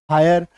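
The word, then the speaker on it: hire: आपका अधूरा रह जाएगा जब किसी वर्ड में आई के बाद आरी आ जाए तो आई का उच्चारण क्या हो जाता है आय हो जाता है यानी कि आकार की मात्रा और य ठीक है तो एच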